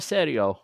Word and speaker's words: Serio: Matthew sario from artegiano Serio yeah I pronounce it correctly unlike everyone else um can I just